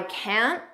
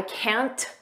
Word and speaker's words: can't: I can't. Notice we don't push out that T. I can't. Just don't push it out.